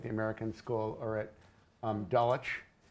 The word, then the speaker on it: Dulwich: have it at the American school or at Dulwich correctly pronounced there but but there are a lot